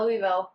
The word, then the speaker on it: Louisville: we were mispronouncing it not Louisville not Louisville Louisville like got a bag of marbles in your mouth so yeah historic building